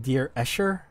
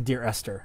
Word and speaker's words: Dear Esther: During the break, it's been pointed out, I was saying Dear Escher. It's actually Dear Esther.